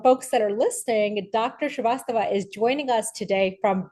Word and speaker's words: Shrivastava: Shrivastava. Yes, absolutely. Terrific. I take a lot of pride in pronouncing folks' names correctly.